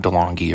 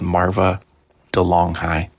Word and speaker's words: Marva DeLonghi: Marva DeLonghi, not DeLonghi or anything like that. The correct pronunciation is Marva DeLonghi.